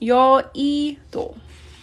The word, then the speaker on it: 여의도: 여의도 is an island in Korea, and it's pronounced 여의도.